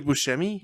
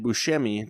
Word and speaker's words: Buscemi: yeah yeah yeah and buscemi to make a sh like the c in italian is usually a ch noise not a or a s or whatever so we get a weird